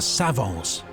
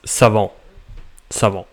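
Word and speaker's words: savants: Collectively, they are known as the Savons and have come to No, you you don't pronounce the T and the S. It's sav sav.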